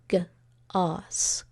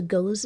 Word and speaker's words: goes: Go turned into something that looks like a closed syllable, so we could mistakenly read that as g-os, gos.